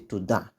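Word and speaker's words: תודה: They don't pronounce to and then da separately. They say Tohdah.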